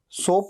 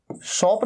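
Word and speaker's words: soap: अब जब आप अपनी बॉडी पे साबुन लगा रहे हैं तो सोप, सोप मतलब साबुन। अच्छा, इसे सोप कहना है, सोप, इसे शॉप नहीं कहना है।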